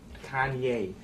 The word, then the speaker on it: Kanye: Kanye. Oh, I'm from Ohio. We say Kenny. That's how we pronounce it. Well, I don't care where you're from. You pronounce my name Kanye.